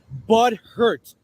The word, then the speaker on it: butthurt: Let me pronounce it with you together. Bud hurt, not butter.